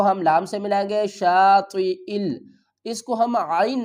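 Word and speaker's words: شاطئ: کے ہجے کرتے ہیں۔ شین الف زبر شا، طا زیر تی، شاطی، اس یا کو ہم نہیں پڑھیں گے، حمزہ کو پڑھیں گے۔ یہ جو زیر ہے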